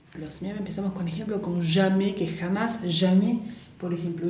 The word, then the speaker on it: jamais: como Jean, bien, vibra, jamais. Acuérdense, la S final no la vamos a pronunciar y la A ahí es bien abierta, jamais, bien, jamais.